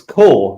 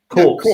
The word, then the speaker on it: core: It's core. It's not corpse, or it's core.